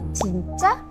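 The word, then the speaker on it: 진짜: Kak yang bener nih Itu tuh sebenarnya dia pertanyaan ya jadi nadanya harus naik jadi bilangnya cinca Cin gimana cinca cinca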